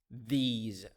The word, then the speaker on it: these: a tip here the s in these words pronounced as as ze sound those those those these so we have this that those and these